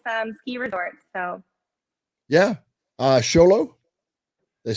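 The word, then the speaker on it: Show Low: Sholo, they say it right.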